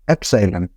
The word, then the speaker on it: epsilon: Spelling देख लीजिएगा, मैं प्रोनाउंसिएशन बता रहा हूँ, एप्सिलॉन।